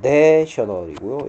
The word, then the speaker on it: national: 조심해야 될게 얘는 발음이 A 발음이고요. 얘는 에 발음입니다. 내셔널이고요. 얘는 네이션이라는 거. 이걸 뭐 정식 발음 기호라면 여기에 A 발음은 O 발음이고 여기에 A 발음은 A 발음이라는 거.